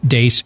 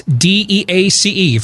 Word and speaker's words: Deace: Beck program, we're the crew from the Steve Deace Show, noon to 2 Eastern, right after Glenn Beck on Blaze TV, radio, and podcast. You can follow us on Twitter at Steve Deace Show. That's DEACE for those of you listening around the country